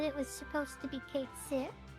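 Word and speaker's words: Cait Sith: Yeah, that was kind of like why I was really irked when I heard that his name was pronounced Kate Sith instead of Catchy.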